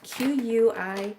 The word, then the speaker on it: quinoa: So really the possibilities are endless with this wonderful little nutrient-packed seed called quinoa, and it's spelled Quinoa.